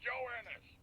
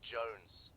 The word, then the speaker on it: Jones: Private Joe Ennis. Joe Ennis. Joe Ennis, where the hell are you? Sir, for the millionth time, my name is pronounced Jones.